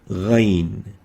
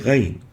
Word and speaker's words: غين: Another mistake is to replace it with the ig of the English. Ig articulates in front of the kha, here. Ig. And with that, the pronunciation would be mistakenly pronounced as غير المغضوب, and this is wrong. It should be pronounced with إغ, غير المغضوب, not إخ, not إج, إغ, غين.